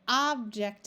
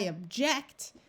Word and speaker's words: object: tennis object or object the accent dep depends on if you're going to use it as a noun like place the object on the table the noun form the first syllable is accented if you want to use it as a verb like telling somebody you don't want to do something like I object then you put the accent or the emphasis on the second syllable neglect Perfect all right